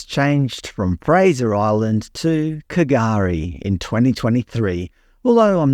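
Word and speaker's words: K'gari: Apparently the name is pronounced Gurri, the K is silent.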